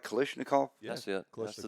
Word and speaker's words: Kalashnikov: Kalashnikov.